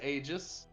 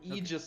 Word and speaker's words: Aegis: a robot okay and his name is ages or Aegis if you want to pronounce it like an idiot I mean I'll let